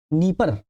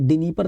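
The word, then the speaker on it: Dnieper: नदी बह रही है डी साइलेंट है इस डीनी परर ना पढ़ दीजिएगा नीप नदी बह रही है ठीक है और नीप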